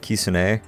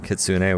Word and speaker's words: kitsune: and I know that I think it's something closer to like Kissin a rather than kitsune which is what I say which is wrong okay we've got another